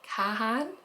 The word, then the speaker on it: Kahan: anywhere in the US you pronounce it Khan like Kahan but my my accent